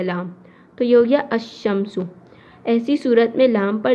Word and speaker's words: الشمس: یعنی کہ بتا دیا۔ اب جیسے الشمسو ہے، اب یہاں پر جو لام ہے یہاں پر لام کو نہیں پڑھا، اب لام کے بجائے